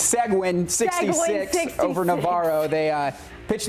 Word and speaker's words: Seguin: It's Seguin 66 over Navarro. They pitched the shutout tonight. That's crazy. Seguin, actually. Seguin, okay. There we go. Our producer just told us Seguin.